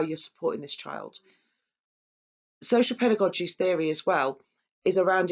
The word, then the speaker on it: pedagogy: So I always pronounce this wrong, but I've learned it's pedagogy.